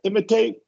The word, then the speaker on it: imitate: That middle I is just a schwa. Imitate. Yeah. Yeah, and that is true of all ATE verbs that are 3 syllables. Primary stress Mm. on the first, schwa on the second, long A on the third, and secondary stress.